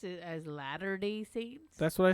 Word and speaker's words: Latter-day Saints: drought conditions reveal a ghost town settled by later Day Saint as means Mormon uh Pioneers that had been underwater for years supposed to say aren't you supposed to pronounce it as Latter-Day Saints that's what I said though you said later